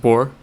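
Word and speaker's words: Borrelly: simply because the name you pronounce all of the letters sure is French yeah okay well then I get into Cosby pronouncing it wrong I haven't heard it spoken nah yeah it's actually pronounced boar yeah and the rest of the letters are just there for give me a second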